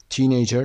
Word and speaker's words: teenager: your opposite yes first syllable number three teenager teenager no javonas first syllable delivery is delivery five Arrangement Arrangements second